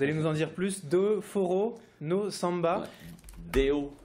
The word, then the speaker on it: Deu Forró no Samba: Merci d'avoir répondu à notre invitation et puis pardonnez-moi pour la prononciation brésilienne. Vous allez nous en dire plus. Do Forró no Samba. Deu forró no samba.